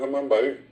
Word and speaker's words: Amambay: La misma cosa ocurrió con Amambay, que lo correcto es Amambay. Del lado brasileño inclusive queda Amambay. El acento está al final y es amá lluvia, tiene una M, es nasal.